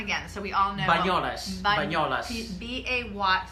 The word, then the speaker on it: Banyoles: Banyoles. Banyoles. B-A-Y, spell it.